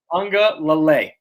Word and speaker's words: Uiagalelei: Uiagalelei. Uiagalelei. It's Lele. Uiagalelei.